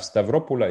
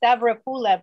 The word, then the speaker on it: Stavropol: quit calling you staff stavropola is so much more you know musical i'm to respectfully correct the accent it's tavra pula but you're really close okay well had you